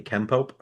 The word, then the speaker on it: Kenpo: pronunciation is actually Kenpo.